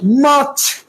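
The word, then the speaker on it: March: বলতে হবে ফেব্রুয়ারি ফেব্রুয়ারি মাছ মাছ মার্চের মধ্যে আর আছে না এই আর উচ্চারণ করবা না বলো মাছ মাছ শেষে চ উচ্চারণ হবে চ হবে শক্ত বলো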